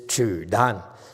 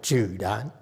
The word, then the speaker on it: Zhidang: So look at it as J-I, Zhidang. Okay. Jeep. Zhi like jeep. J like a jeep.